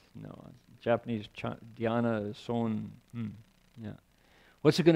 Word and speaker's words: dhyana: Chan is the Chinese pronunciation of the word Dhyana.